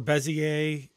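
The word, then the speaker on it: Bézier: You can still go in and adjust the beezer or bezier. People pronounce it two different ways. I think the correct term is bezier, but I've been calling it beezer all through high school and everything.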